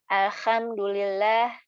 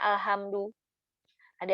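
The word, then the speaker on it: الحمد لله: bukan dari ini deh kalau misalnya ada orang yang baca alhamdulillah alhamdulillah Ahok pakai hop bukan aha ha ada yang bacanya al-hamdu lele yang bacanya alhamdu lillah pada udah belajar pasti terganggu dengan Ih bukan itu bacanya aha Alhamdulillah itu ya nah eh jadi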